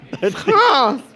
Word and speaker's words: France: Yeah, there's an R in it, and it's very important to pronounce it. France!